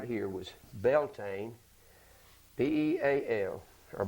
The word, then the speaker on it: Beltane: This one right here was Beltane, B-E-A-L, or Baltan is the way it's pronounced, B-A-L-T-A-I-N-E.